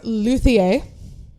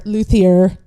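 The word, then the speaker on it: luthier: All right, our last game is Luier or Luier if you don't want to pronounce it all Frenchlike.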